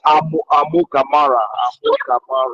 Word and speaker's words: Amukamara: Please, can you pronounce that name? What do you say? Can you pronounce that name, Amakumara, right? Yeah, Amu Kamara. Okay, Amukamara. Thank you, my brother.